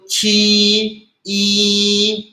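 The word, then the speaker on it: 七: Tadi sudah kita baca Q itu chi i. Nomor 1 kita baca chi chi itu artinya angka 7 ya.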